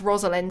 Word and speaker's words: Rosalind: It rhymes as Rosalind, so it's things like Western Ind, wind, rhyming with Rosalind.